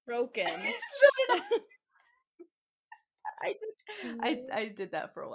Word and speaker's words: Crochan: said Cochrane in my head the entire time I read But it, and then I was like, "Oh, it's Croken."